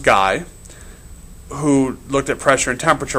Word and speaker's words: Gay: Gay-Lussac is another French, and it is pronounced Guy, who looked at pressure and temperature relationships and found, not surprisingly, you increase the temperature, you increase the pressure.